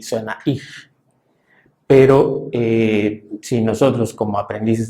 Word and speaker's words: ich: Entonces, CH en la mayor parte de los casos, en general, y sobre todo decimos cuando está después de vocal, la tendencia es que suena como una J. por ejemplo, en la palabra buh o en el pronombre sujeto ich, que podría, bueno, más